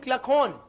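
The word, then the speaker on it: Kluckhohn: Clyde Cluckhorn. You will say who? He is more difficult to write than to pronounce.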